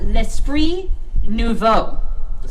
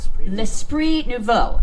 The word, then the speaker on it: L'Esprit Nouveau: How do you pronounce it again? It's really... Okay, so it's called L'Esprit Nouveau. L'Esprit Nouveau.